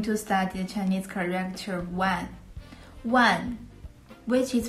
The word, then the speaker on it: 万: they were going to study Chinese character well one which is pronounced the fourth town means 10,000 when you